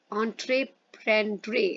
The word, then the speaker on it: entreprendre: The French word entreprendre, entreprendre ऐसे आप pronounce करोगे, means to undertake.